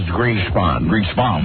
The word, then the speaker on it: Greenspan: Please, the correct pronunciation is Greenspan. Greek spawn. Green spawn.